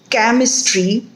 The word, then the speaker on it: chemistry: Here the letters C-H have Ch sound, and if the word is chemistry, the letters CH have K sound in it, and if the word is chic, CHIC, then it has sh sound in it.